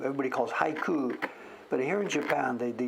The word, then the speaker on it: haiku: There's the haiku that everybody knows. The word actually has a silent U. Everybody calls haiku, but here in Japan, the U is silent.